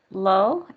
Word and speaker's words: Lo: try hard to um is it low l-o am i saying it wrong yeah no it's low um hi my name